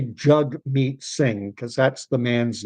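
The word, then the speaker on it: Jagmeet: If you've never if you don't know that it's jug meat and you just read it, it looks like jag meat.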